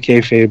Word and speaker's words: kayfabe: It's actually kayfade, but appreciate you reminding us never to break it.